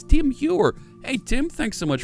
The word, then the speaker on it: Tim Heuer: Tide Heuer just resubscribed for 2 months. Now, that's the wrong... No. No. You didn't pronounce it right. It's Tim Heuer.